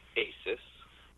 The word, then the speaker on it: Asus: for a little while it's Asus huh not Aus oh Aus always tend